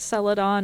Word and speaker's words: celadon: that looked vaguely like the word celedon which i think is pronounced celadon at c-e-l-a-d-o-n um which i had